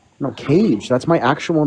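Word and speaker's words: Kayj: Keys? No, Cage. That's my actual name. Seriously? Yes, seriously. It's not His spelled actual K-A-Y-J.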